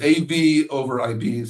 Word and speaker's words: AVoIP: Uh and that acronym really bothers me because I always see as a VOIPE guy, obviously AVOIPE. Uh but but uh but it's AV over IP. So uh it's spelled AVOIP.